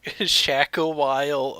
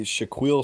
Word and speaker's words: Shaquille: That's actually Shaquille. Sounds like that's how it's supposed to be.